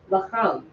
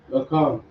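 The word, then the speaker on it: לחם: And then an example for the lower letter for ma, it would be, we have the example bread, which is pronounced lacham. Lakam.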